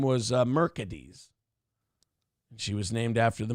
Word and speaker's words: Mercedes: her mother named her mercades because she didn't want to name her exactly after the car but she wanted to spell it the same way so she named her Mercedes but pronounced mercades but pronounced it mercades